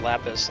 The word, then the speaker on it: lapis: Yeah, it's actually pronounced lapis, like lapis lazuli.